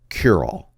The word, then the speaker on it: Curall: C-U-R-A-L-L is how I spelled his last name. But what I did is I got the voiceover guy to pronounce his name Curall, like just said it, really quickly.